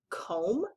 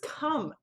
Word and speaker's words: come: But do we say this word comb? No, this is come. That O isn't making an sound. It isn't making an O sound. It's actually making the sound like a U would make.